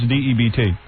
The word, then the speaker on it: debt: How do you pronounce D-E-B-T? Debt.